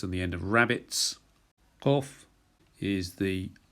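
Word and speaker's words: Qof: Kof is the K. It sounds like a K, but it's towards the back of the mouth. So it's the tongue goes backwards instead of forwards, and that's K sound.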